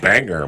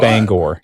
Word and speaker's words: Bangor: But the Banger Marching Band. No. Okay, what? Bangor. Yeah. Bangor.